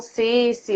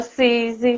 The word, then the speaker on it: Sisi: Alguns chamam Cici, outros Cici, né? Uhum. Às vezes alguns chamam Cizi também, mas a gente tem o coração aberto aí, a gente aceita todas as pronúncias.